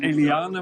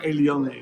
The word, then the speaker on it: Eliane: En ik heb net gehoord dat het niet Eliane, maar Eliane is.